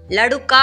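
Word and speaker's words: लड़का: லடுக்கா அப்படின்னு போட்டிருக்கேன் இல்லையா, அந்த மாதிரி படிக்காமல் லடக்கா, லடுக்கி அப்படின்னு மட்டும் படிங்க, அதுவே போதும். லடு அப்படின்னு படிக்கக்கூடாது.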